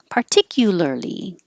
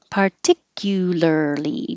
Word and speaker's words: particularly: one every time because there's a lot of syllables particularly particularly particularly don't forget any of the syllables you have to have all five particularly pudding i'll put something